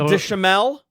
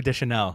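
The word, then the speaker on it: Deschanel: say her name wrong zoe deschamel zoe de chanel it's there's an n there's an n d chanel yeah i want to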